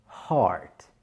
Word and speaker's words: heart: C'est un son long. Je ne dis pas heart, je dis bien heart.